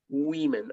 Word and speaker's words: women: more you say women women absurd that even though you have here and oh they all is not pronounced at all you say women women that's the way